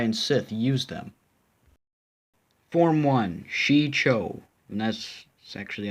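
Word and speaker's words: Shii-Cho: which Jedi and Sith used them form one XI Cho and that's actually how to pronounce but what we're learning lightsaber techniques a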